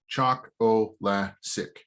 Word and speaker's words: Chocolasic: So the easiest way to pronounce my name, Chocolasic. Chocolasic. You can also say it sounds like chocolate, and I grew up with the line that it means I'm sweet and the ladies love me.